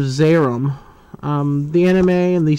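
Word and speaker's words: Zeiram: accident um interesting note when they promoted this in TV guides they took the eye out and just called a zaram in fact that's how they say it in the film zaram instead of xerim um the anime and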